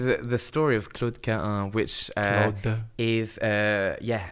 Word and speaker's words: Cahun: of Claude Cahun. Oh, what? And I was thinking I need to get you to say her name. So, Claude Claude Cahun Cahun Cahun Cahun Yeah,